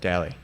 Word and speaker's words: Dally: Is that how you say your last name? Daly? Daly, yeah.